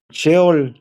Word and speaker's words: Seol: se usa otra palabra Seol ya cheol se pronuncia es una palabra hebrea